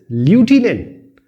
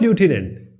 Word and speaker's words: lieutenant: Lieutenant. But it is not lieutenant. It's lieutenant. The pronunciation is lieutenant.